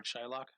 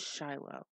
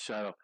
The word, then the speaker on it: Shiloh: Shylock? Yeah. You said it wrong. It's Shiloh. It's Shiloh.